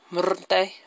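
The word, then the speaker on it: Santa Muerte: Morte, that's how you say it. You gotta do that.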